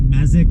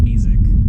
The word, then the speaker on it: Mesick: But yeah, it's pretty funny how Google Maps is saying Mesick, where according to the Michigan Pronunciation Guide, it's pronounced Mesick.